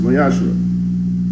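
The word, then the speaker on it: ma'aser: verse 8 and 10 means 10th and hebrew and is pronounced mayasha 10 of every penny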